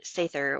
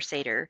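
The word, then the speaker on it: seiðr: Um which is the sther or seder depending on your pronunciation.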